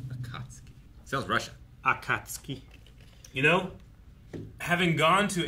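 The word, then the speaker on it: 暁: right yeah oh yeah I've always said a tosuki yeah it's K not t okay sales Russia Akatsuki you know having gone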